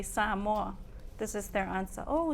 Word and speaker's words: Samoa: some for some context I worked in Samoa Samoa As Americans pronounce it it's tiring exhausting in fact someone asks you where are you from I say sam Mo this is their answer oh San Juan no